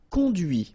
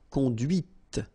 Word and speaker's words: conduit: C'est la voiture que tu as conduite. And that's when you hear the difference between conduit, because remember, final T is not pronounced, conduit, here, and then the feminine, conduite.